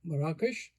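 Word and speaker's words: Marrakesh: So um uh first of all uh just to uh mention I heard you saying Marakkesh your hometown just to pronounce it correctly the way I know it from my childhood. Marakkesh that's okay.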